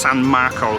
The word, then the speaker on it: San Marco: So seriously, we are now in St Mark's Square, or in Italian it's pronounced San Marco Square.